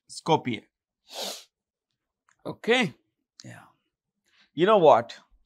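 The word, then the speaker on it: Skopje: the full name and the capital is Scopia the J is silent Scopia okay yeah you know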